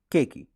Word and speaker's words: Cakey: to pronounce my name it's cake key like cake that you eat key that you turn put it together and what you got you're mixing the bowl what you got cakey but i also got